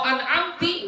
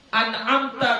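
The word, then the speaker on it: أنعمت: mendahkan Ta atau mengkasrahkannya jadi seharusnya kan kita membaca an amta anamta huruf tanya ini berbaris fathah lalu kamu membacanya salah dengan kamu baca dia barisah atau kamu baca dia baris kasrah maka ini merusak arti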